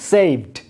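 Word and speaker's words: saved: যেমন সেইভ, লাস্টে ভ সাউন্ড, সুতরাং ইডি যুক্ত হওয়ার পরে কী হচ্ছে, সেইভড, জাস্ট ড সাউন্ড।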